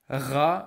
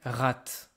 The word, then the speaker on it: rat: hear here for example I am not pronouncing rat I am saying exactly as if there was no T again this is not